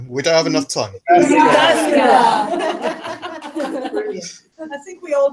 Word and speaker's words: Jyväskylä: So I'm going to ask everybody in the room here to teach you how to say Jyväskylä. Jyväskylä. No, we don't have enough time. Jyväskylä. Brilliant. I think we all pronounce it differently.